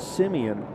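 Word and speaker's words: Semien: Simeon at the plate he spells it s e m i n but pronounces it Simeon and he can pronounce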